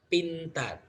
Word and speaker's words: pintar: Pintar. Pintar. Okay, in English, this is a plosive sound, but in bahasa Indonesia there is no plosive sound, so it's we pronounce this as regular sound.